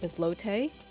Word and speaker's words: Lotte: Yeah, they had it's Lotte.